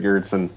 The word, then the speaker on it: Gerritzen: It is Girtson. Uh I need to change my last name so people can pronounce pronounce it.